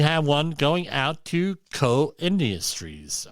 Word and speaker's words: Koch: Here we have one going out to Co Industries. I used to always pronounce it Koch, but it's actually Co.